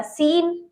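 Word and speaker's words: scene: ठीक है, तीसरा है हमारा सीन, इसमें भी सी साइलेंट रहेगा।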